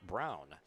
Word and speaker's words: Braun: And it's spelled the same as Ryan Braun, the former major leager with the Brewers, but pronounced Brown.